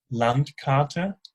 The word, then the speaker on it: Landkarte: Landkarte.